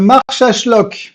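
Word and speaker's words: Marsaxlokk: prononcer oui j'ai appris c'est le march àchlock le X se prononce che voilà c'est mal qui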